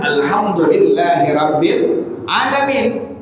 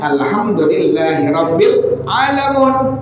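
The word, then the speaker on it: الحمد لله رب العالمين: Bagaimana kalau dengan alamun dibacanya kan seharusnya alhamdulillahi rabbil alamin. Ada orang yang membaca dengan kalimat alhamdulillahiabbil alamin.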